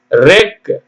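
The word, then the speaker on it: wreck: டி சிச் இடி ரெட்ச் டபள்யூ ஆர் இசி கே ரெக் ஸ்வாட் sold தான் சொல்லணும் சோல்ட் வால் ஏ என்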